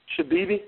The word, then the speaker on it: Shabibi: ask you to am I saying it right shabibi yes ma'am shabibi shabibi yes or